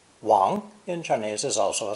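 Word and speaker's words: 王: wheels over his subjects this character is pronounced second tone if that pronunciation sounds familiar as in a common chinese family name you would be right as in english king wong in chinese is also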